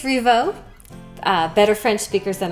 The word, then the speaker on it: Rievaulx: in it oh my the lx i think it's revo uh better french speakers